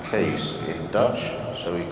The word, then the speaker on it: Kees: Kees is pronounced Kees in Dutch, so we call our dogs Keeshounds.